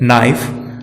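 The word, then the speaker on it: knife: के यदि वर्ड के आरंभ में एन के पहले आता है तो के साइलेंट रहता है, जैसे नाइफ, नो, नॉक, नॉलेज।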